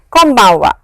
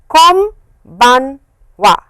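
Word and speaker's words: こんばんは: clearly, but please remember this n over here is of course n, but the way it is pronounced is, press your lips like this, close your lips, and it is an m sound.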